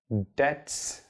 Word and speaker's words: debts: at therapy yeah well debts b TS but then b is silent and then inherit okay